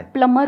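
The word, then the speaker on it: plumber: हम हम बोलेंगे यार क्या दिक्कत है 20 साइलेंट है उसमें भी होता है प्लंबर होता है प्लंबर होता है मतलब मुझे लग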